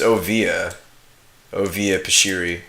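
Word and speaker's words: Oviya Pashiri: I can never pronounce her name. It's Ovia Pashiri.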